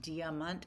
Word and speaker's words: Diamant: Diamant. I don't even know how to pronounce it any other way. I'm I'm pronouncing it German.